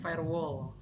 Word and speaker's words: firewall: Kalau ini bacanya gimana berarti? Firewall.